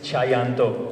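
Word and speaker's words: Tjahjanto: he said one thing tell them how to pronounce my surname cuz everyone gets it wrong so if you ever see him it's chanto Teo came up with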